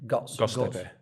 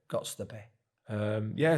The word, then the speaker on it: Göztepe: Göztepe. Göztepe.